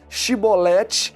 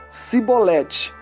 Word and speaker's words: chibolete: uma boa dicção pois os benjamitas eram conhecidos por não pronunciarem a palavra chibolete corretamente em vez disso diziam sibolete porque não a podiam